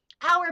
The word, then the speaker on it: hour: a little bit tricky hour begins with a consonant sound but because the H is silent you would base the article off the sound which is the vowel sound that is after hour so does this make